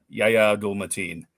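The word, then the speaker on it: Yahya Abdul-Mateen: um 2026, uh starring Ben Kingsley and uh Yaya Matin. How do you say it? Abdul Matin. Yaya Abdul Matin.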